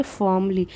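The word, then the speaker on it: formally: And said और कहा, फॉर्मली, अब यहाँ पर भी आर साइलेंट होगा, इसे पढ़ेंगे फॉर्मली।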